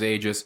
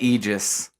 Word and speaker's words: Aegis: He says that he's he says that he prefers Aegis even though he knows that in lore and in reality that there is another pronunciation and I believe yeahisg I will never say Eegis.